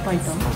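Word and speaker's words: 白湯: 白湯と書いてパイタン。白湯と書いてパイタンと読む。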